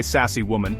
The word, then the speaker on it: Sacsayhuaman: The name is fun to pronounce, try sassy woman, and the site itself is absolutely breathtaking.